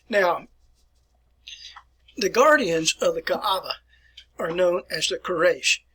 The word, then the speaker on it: Kaaba: but it is pronounced so draw out your a with that not kaaba it's ka'aba and in